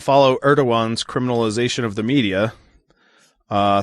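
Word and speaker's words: Erdoğan: his countertop okay um ergadan praised him well that's how it's pronounced erdogan yeah erdogan too many different letters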